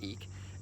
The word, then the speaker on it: Ik: is what's called the eek glyph spelled ik pronounced eek and it means wind